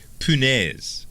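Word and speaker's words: punaise: this is French okay punez now I had to call my dad and ask him how to pronounce this because this is the Cajun word now I've heard it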